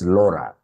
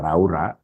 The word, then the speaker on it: Laura: It's Laura. Sio Laura. When you pronounce Elsa keka Raura, it becomes very sad. Very sad. It's Laura.